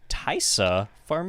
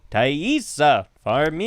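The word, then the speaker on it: Taissa Farmiga: i forgot it um i think it's like tight i i watched a video and it was like taissa for me i think she's so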